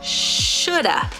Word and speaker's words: should have: much fun all right let's practice pronouncing this phrase should uh Shoulda all right let's say